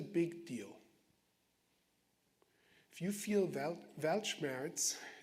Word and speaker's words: Weltschmerz: If you feel Weltschmerz, I'm pronouncing it as the German word in English.